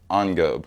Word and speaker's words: engobe: o b e and it is Ono like on and then go it sounds like Globe but it's not there's no l again there's no l